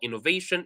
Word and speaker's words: innovation: The last syllable that you have, you should divide it into two, because vation, that's already two.